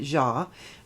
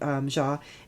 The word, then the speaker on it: Xia: And yesterday a young lady named Nancy, I'm going to pronounce her name wrong, but I'm going to just pronounce it Ja. It's spelled Xia.